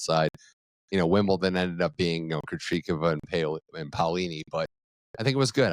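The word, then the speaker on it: Krejčíková: And how do you pronounce her name? For the life of me, is it you say Krejcikova. Krejcikova.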